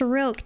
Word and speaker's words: roque: It's pronounced roque, Daddy was saying.